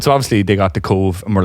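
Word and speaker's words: Cobh: h and they were like cobb and they're like no it's cove spell it again i'm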